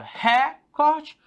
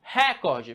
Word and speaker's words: recorde: A gente se pronuncia a palavra recorde ou se recorde? Professor, eu pronuncio recorde. Fala aí, recorde. Se eu falo recorde, então a tonicidade está aqui, né?